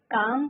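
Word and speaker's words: calm: काम का L silent है student.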